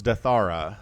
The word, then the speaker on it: Deathaura: and Ptitdrogo here on Deathaura. I kind of feel like if the map maker intended it to be pronounced Deathaura, that would be two words, right? So it's Deathaura, the latter edition.